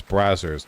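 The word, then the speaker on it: Brazzers: over the goddamn place isn't it pronounced um brosier no it's brazers or is if is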